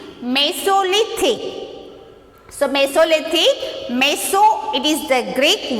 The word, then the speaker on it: Mesolithic: So it's just how to pronounce this? Paleolithic. Okay. And next spelling is there here. M-E-S-O-L-I-T-H-I-C. Mesolithic. So Mesolithic, Meso it is the Greek word.